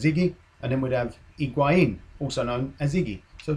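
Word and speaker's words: Higuaín: I was thinking, what would we call Higuain if he did arrive at Arsenal?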